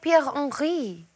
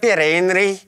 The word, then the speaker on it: Pierre Henri: Ah, is jy Pierre Henri? And then whoa. What? That's the first time someone said it with the correct pronunciation.